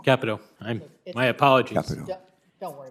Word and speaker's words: Capito: Uh, thank you Senator Carper and Ranking Member Capito and the committee for having me here to testify today. Just just for the record, uh, we pronounce her name Capo. Capo.